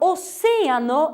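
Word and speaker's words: océano: A palavra oceano, a sílaba tônica é oce, é se.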